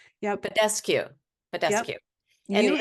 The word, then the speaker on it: Badescu: And how do you pronounce this? Mario Bendescu? Yep. Badescu.